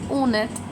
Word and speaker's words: honnête: Now, if you see here the H in the starting is always silent. So, in this case, it is honnête which means honest.